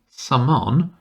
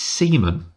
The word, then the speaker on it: Seaman: It's not Saman, it's Seaman.